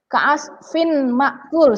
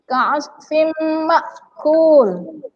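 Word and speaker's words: كَعَصْفٍ مَأْكُولٍ: Jadi bacanya adalah ka'asfim. Sudah melebur, bukan ka'asfin lagi ya. Bukan ka'asfin lagi, tapi ka'asfim makul ya.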